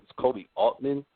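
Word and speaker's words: Koby Altman: I believe it's Kobe Altman Is that how you say his name?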